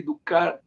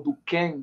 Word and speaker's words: Durkheim: Se a gente for buscar pela sociologia, Emily Durkheim, ou Durkheim, que depende da pronúncia de quem vai estudar, ele é considerado o pai da sociologia.